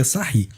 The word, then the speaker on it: Sarrus: pela regra de sair a gente escreve sarros mas a gente pronuncia essa rir e qual o primeiro